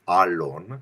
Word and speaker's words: Alon: name so the the the appropriate terminology of how to pronounce it is Alon it's an elated long a but hey I go